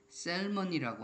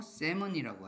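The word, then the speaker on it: salmon: 이럴 때 이 L이 silent가 되는 즉 묵음이 되는 게 있어요. 이렇게 셀먼이라고 안 하고 세먼이라고 하죠. 일때도 vulnerable이 아니라 vulnerable입니다.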